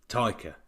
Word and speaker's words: Taika: So it's Taka. Taka. It's not Taika. Taika Waititi, isn't it? Taika Waititi. Yeah. Taika. That's it. Taika.